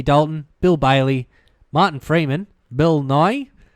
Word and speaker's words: Bill Nighy: Bill Bailey Martin Freeman Bill Nye they say you pronounce it yeah Bill Nighy that's how I don't Rory McCann if